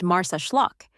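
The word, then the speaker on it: Marsaxlokk: Nestled on Malta's southeastern coast, the fishing village of Marseeklock, pronounced Mars Schllock, is where tradition comes to life in Technicolor.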